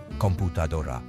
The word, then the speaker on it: computadora: in English computer while its Spanish counterpart computer follows the typical Rule and stresses the second to last syllable computadora another difference is that